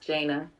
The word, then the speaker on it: Jana: My name is pronounced Jana.